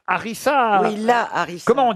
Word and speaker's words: harissa: une chanson de balavie laarissa je te veux si tu veux de moi non mais non c'est pas algérieiss ça s'écrit pas laarissa laarissa c'est la harissa oui là hariss comment